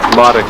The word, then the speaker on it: Marek: Modic, it's actually pronounced Modic as in Andy Roddick. Modic. It's spelled Marek, but it's a rolled R as it's Polish.